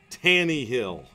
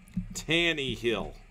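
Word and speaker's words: Tannehill: Ron Rogers versus Ron tani he'll tani he'll it's how they say it I guess Tanny Hill versus Rogers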